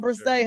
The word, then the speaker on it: Brissett: Call him Brissett, honey.